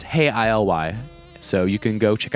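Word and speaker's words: Hey, ILY: psychokinetic love songs and the way the band usually spells their name is hey ILY you know I pronounced hey I love you but it's hey ILY so you can go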